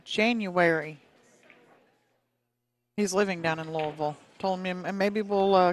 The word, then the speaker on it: Louisville: That's the way the people from the town say it. They pronounce it Louisville. Like they have a mouthful of marbles.